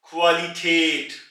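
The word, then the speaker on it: Qualität: से खवल खल यानी के सोर्स कु से क्वालिटेट क्वालिटेट यहां पर आप गौर करें के कु के बाद उ है इसलिए हमने इसको पहले कु बोला और फिर उसके बाद आ ू आ कुवाली टेट और यहां पर जैसा कि आप पहले सुन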